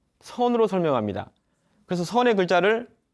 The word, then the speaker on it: 선: 말로 하면 찾나 입니다 같은 한자 를 쓰는데 우리는 선 이라고 발음하고 일본사람들은 잰 이라고 부릅니다 중국 사람들은 찬 이라고 부르고 요 원래는 선 나라였습니다 더